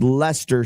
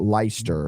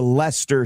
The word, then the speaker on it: Leicester: But let me say this to Leicester City. Emphasis on less, because you have now been relegated to League One.